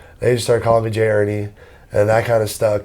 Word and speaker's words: Hernie: spells it e-a-r-n-i-e like ernie yeah but no it has the h for hernandez yeah but like it's like h is silent just like it was in spanish yeah exactly so that's